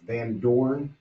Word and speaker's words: Van Doorn: The next one, I'll say it and then spell it. Van Doorn.